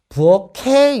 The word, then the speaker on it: 부엌에: 것들은 필요합니다 예를 들어서 자 부엌 에라는 말을 부엌에 있어라고 읽어요 아니면 부엌 해 있어라고 읽어요 부어케 있어라고 읽죠 자 여기서 케 라고 발음하는 이유는 에라는 말이 조사로서 모음으로 시작하는 형식 형태소에 그렇기 때문에 종성에 있는 키이 연음 처리되는 거거든요 자 그런데 1학년 교과서에는